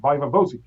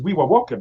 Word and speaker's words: viva voce: You mean Viva Voce? This is how you should pronounce it in Oxford, Viva Voce. But I know that it was Wiwa Woke because I know Latin and Romance languages.